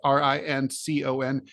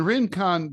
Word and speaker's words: Rincon: if you pronounce this r-i-n-c-o-n is it Rincon I'm going to assume yeah very good wow in con Georgia or rassonne if we were in French but we we're not so in Rincon Georgia uh there's um